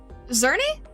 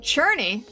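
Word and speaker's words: Czerny: Uh, Zer Zernie. I'm guessing the C is silent, right? Zernie. Interesting. It's a C8. Churnney. German. Okay. Churnney. Okay. Interesting. Interesting. Pronounced like uh Shery.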